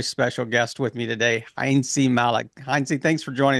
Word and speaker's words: Heintze: So I would say, well, I'm Heintze.